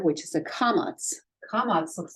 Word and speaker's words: kamatz: But this kamatz can also, so it makes the ah sound as in father, but it can also make the o sound or the aw sound.